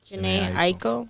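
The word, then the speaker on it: Jhené Aiko: Janae Aiko.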